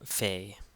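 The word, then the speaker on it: ⲫⲓ: letter P in Coptic here we have the Fay the Fay which is a f sound or a ph sound however you want to look at it and it's f as in or pH as in phone so Fay so let's do exercise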